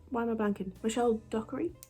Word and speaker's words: Dockery: am i banking michelle dockery dockery is how you say your last name honest to god her